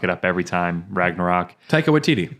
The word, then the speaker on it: Taika Waititi: Taika Waititi. Taika Waititi.